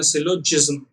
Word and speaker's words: syllogism: इसको प्रोनाउंस कैसे करते हैं, इसको करते हैं सिलोजिज्म, राइट।